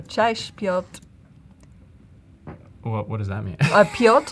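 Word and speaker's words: Piotr: Pot is actually how you say it in Polish.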